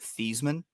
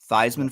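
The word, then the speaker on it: Theismann: Did you know that he and his family originally pronounced it theman? Notre Dame changed it. Notre Dame changed it. You know why? Thyman for the Heisman, not theman for the Heisman.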